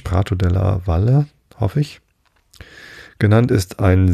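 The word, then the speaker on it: Prato della Valle: Der große Platz, Prato de la Valle, hätte ich beinahe Spanisch ausgesprochen, de la Valle, nee, es ist Italienisch, Prato de la Valle, hoffe ich, genannt, ist ein sehr weiter Raum, wo der Hauptmarkt im Juni gehalten wird.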